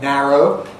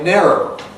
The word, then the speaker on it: narrow: So in a word like narrow, although some Americans say narrow, perhaps most say narrow. Narrow. And that means that not only Mary and Merry, but also marry, get wed, become the same. And so you get Mary, Mary, Mary, all three of them the same.